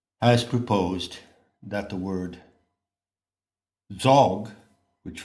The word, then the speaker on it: Dzog: Now, another scholar has proposed that the word Dzog, which rhymes with sog and dog, in fact, it doesn't rhyme with dog, it is pronounced dog.